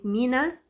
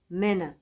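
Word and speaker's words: مِنّا: ما ما بلاحظ ان كلمه مينا في اللغه العربيه ناس كتير بتنطقها مانع منى منى منى لا انت متكسر انت بتكسلي مكسله تكسري هو الكسره دي مشوار هتروحيه ده مين وانت قاعده زي ما انت لو قمتي ولا عملتي مجهود مينا مينا مينا لكن منى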